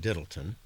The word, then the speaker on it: Dirleton: In 1155, their heir, John Devoe, acquired a small but wealthy estate, and Dirleton Castle, the Scots pronounce it Diddleton, was built in 1220.